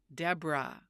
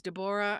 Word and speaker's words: Deborah: But did you hear me say my name is Deborah? No, I said Debra. Debra. And when I was a child, the teacher would say, "Oh, your name is Deborah."